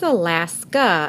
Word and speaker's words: Alaska: Again, the A is making that third sound there at the end. So it's A or A. But actually, when we say Alaska, we're using A's third sound at the beginning. We don't say Alaska or Alaska.